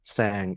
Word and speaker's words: Tsang: a n and then my last name is sang there's a silent T so it's t for